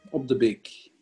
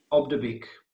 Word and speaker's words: Op De Beeck: Okay, it sounds like a bakery. Op De Beeck. Op De Beeck. Almost. Okay. A Op De Beeck. Op De Beeck.